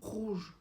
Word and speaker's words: rouge: Rouge is a word that starts with an R, so you really have to try to get there.